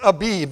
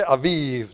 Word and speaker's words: Abib: This is Abib. The Hebrew people say Aviv. They spell it A-V-I-V, Aviv. But I'm English, and I got a King James Bible. It's Abib.